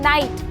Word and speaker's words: knight: ऐसे ही अगर मैं बोलूँ नाइट, वो रात वाली नाइट नहीं, योद्धा वाली नाइट, तो स्पेलिंग होती है KNIGHT। तो क्योंकि एन से पहले के आया है बच्चों तो ये भी साइलेंट हो जाएगा।